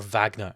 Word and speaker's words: Wagner: that was with David Wagner as the manager, or Wagner, I suppose is the correct way to say his name.